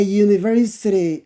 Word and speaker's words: university: Is there a university in your area? A university. This is Y sound. University is Y sound, not university. It is university. Therefore, it is Y sound.